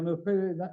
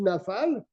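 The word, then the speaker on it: נופל: Donc, tu vois, il faut bien prononcer. Il faut dire Nofel Il y a un nafal et il y a un nofel. Mais si dans le cas du nofel, tu dis nafal, c'est un problème.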